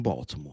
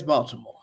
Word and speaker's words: Baltimore: But like the T is like it's like silent.